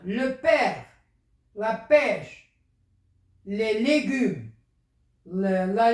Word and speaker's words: père: Le père, il est ouvert.